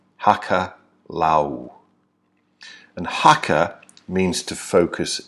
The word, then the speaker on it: hakalau: the state of alcalá now hakalau is spelled h a.k.a la you Hakka Lau and Hakka means to